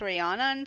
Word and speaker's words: Rhiannon: She called her, because it's like Rihanna and then it's Rhiannon, so we're gonna go with that.